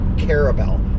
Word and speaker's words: Carabel: Carabel. That's how you say it. Carabel.